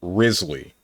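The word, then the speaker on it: Wriothesley: If you want to know, Ruthlessly is pronounced Risley.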